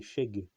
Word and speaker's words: shegë: en albanais qui est Sheg. S-H-E-G-E, E muet quoi. E tréma. Qui se prononce pas en fait en albanais, hein, qui est E tréma quoi.